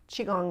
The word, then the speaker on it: Qigong: I've heard it pronounced Qigong in different pronunciations, but Qigong is pretty much, that's how we are going to pronounce it.